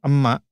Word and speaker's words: emak: You don't pronounce the letter K. It has glottal K there. If I pronounce that with true K, emak, emak, but we usually do not pronounce like emak. We usually pronounce it as emak.